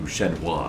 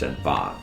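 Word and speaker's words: Shenhua: Shena, I mean Shenfa. It's It's pronounced Shenfa.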